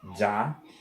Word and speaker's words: già: So già, jaw. Because if I would put that sound, I would pronounce it ga. But we don't need it because G plus A, it's already that sound.